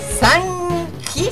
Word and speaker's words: Sanji: Estaba escrito con G o con J, con J. Sanji se pronunciaría.